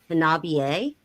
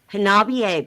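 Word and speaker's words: Hanabie: it's another Japanese allgirl band, but they're called Habier.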